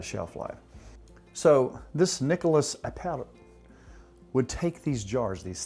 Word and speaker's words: Appert: A fellow by the name of Nicholas Appert, A-P-P-E-R-T, I'm trying to pronounce it like my buddy Raul would. Yeah. Appert.